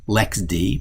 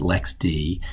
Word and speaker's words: LXD: this too often i am using the lxd lex d pronounced lex d container system it's like docker but allows you